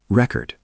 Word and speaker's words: record: Record. Noun. Pronounced rec-ord. Stress on first.